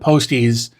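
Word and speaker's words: Postiz: Um, but yeah, like I I I had what was Oh, when I when I set up Posties, I realize that's how you pronounce it, not post.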